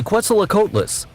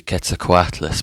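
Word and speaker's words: Quetzalcoatlus: fail to name the quela coess in no way he just said we cannot fail the name the c a Cess and he failed the name look I can't say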